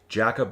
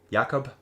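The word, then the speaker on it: Jakob: of my other videos jackob here yakob yeah yakob don't pronounce the J oo it's falling apart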